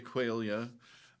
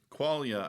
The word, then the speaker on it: qualia: sure how it's pronounced some people do say quailia. Um, qualia I think I hear the most, so I'm going to go with that. Um, so yeah, qualia are